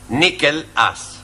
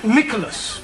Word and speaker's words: Nicholas: upon a time there was a man called nickel us once upon a time there was a woman called nickel it's pronounced Nicholas sorry once upon a time there was a